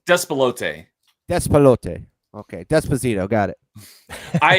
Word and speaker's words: Despelote: How do you pronounce that? You were telling me how to say it correctly. Despelote.